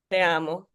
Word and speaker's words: Te Amo: do you pronounce that? I'm sorry. Magdalena Okay. Te Amo. It's in Spanish.